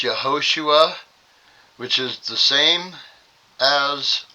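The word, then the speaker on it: Yehoshua: And right, if you pronounce it correctly, it's Yahosua, which is the same as our Messiah.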